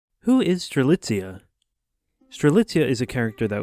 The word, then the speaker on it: Strelitzia: First of all, just quick, there is some disagreement on the pronunciation of her name. However, when I looked into it, every pronunciation I could find online was Strelitzia, so that's what I'm going with for now.